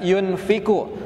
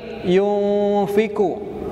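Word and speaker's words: يُنفِقُ: disamarkan mendekati huruf Fa Jadi Bapak Ibu jangan membaca yunfiqu tetapi Yufi ku itu ditahan tiga harokat atau tiga ketukan baik kita coba metallum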